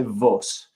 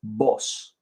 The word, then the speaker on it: vos: will use boss boss it's spelled v but don't say Vos it's boss and the conj in